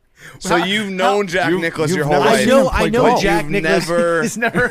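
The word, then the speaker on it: Jack Nicklaus: I almost pronounced it Jack Claus. Like Santa Claus. So you thought you cuz that's how it's spelled.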